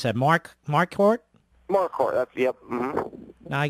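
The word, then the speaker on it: Marquardt: Yeah, I'm going to tell you now when you went up against this Nate, how do you pronounce that? Mark Mark Hort.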